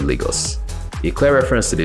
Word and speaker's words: Lagos: It's pronounced Lagos, guys, not Lagos.